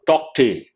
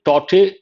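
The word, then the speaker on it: Tauktae: Cyclone Tokte. It could be Tote or Tokte, but generally it is controversial. People are not pronouncing the letter K.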